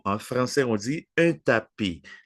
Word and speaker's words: tapis: Non, en français, on dit un tapis. La S finale ne se prononce, OK? Un tapis.